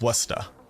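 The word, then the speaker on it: Worcester: the towns right like it's westa w r c s t e r westa Mighty from the United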